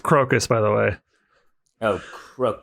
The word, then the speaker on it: Crocus: belly of a mouse it's pronounced crocus by the way oh